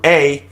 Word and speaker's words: Bourahla: That's Bourhla. The H is silent.